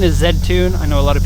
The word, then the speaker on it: Z-Tune: of people will say Z tune because Z is how the American market called the letter Z in Canada we say that and in Japan they say Zed so for example a